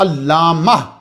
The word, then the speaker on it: علامہ: لیے لگائی گئی ہے۔ تو جب آپ وقف کریں گے تو یہ تا جو ہے وہ کنورٹ ہو جاتی ہے انٹو ہاں، تو علامہ بن جاتا ہے۔ تو صحیح تلفظ کیا ہے کہ جب آپ بولیں گے تو علامہ بولیں گے، لیکن کیا کریں گے،